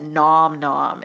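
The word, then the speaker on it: Gnom-Gnom: low carb recipes at nom nom and it's spelled g-n-o-m hyphen g-n-o-m and they have great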